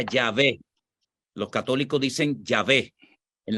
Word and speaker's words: Yahvé: de Nácar Colunga, ellos a esas consonantes le añadieron las otras vocales y se pronuncia Yahvé.